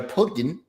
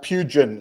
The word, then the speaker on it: Pugin: But for right now, we do have an expert, Alistair Pugen. Did I say it right? Did I say it right? Uh, it's pugin like plugin.